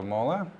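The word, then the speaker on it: MÅLA: I believe they are pronounced as the Mola watercolor color pencils.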